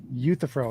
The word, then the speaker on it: Euthyphro: I was just correcting your mispronunciation of Euthyphro. That's why I said Euthyphro is how you say it.